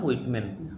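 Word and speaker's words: Whitman: অফ the rain মানে বৃষ্টিকণ্ঠস্বর কিন্তু লিখেছেন ওয়ার্ল্ড হুইটম্যান হোয়াইটম্যান না এটা হুইট হুইটম্যান হোয়েটম্যান ঠিক আছে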